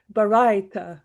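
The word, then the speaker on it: Baraita: There is a ruling which is taught in I still don't know how to pronounce that word. Baratta. Bara. Yeah. Bara. It's it's Barita.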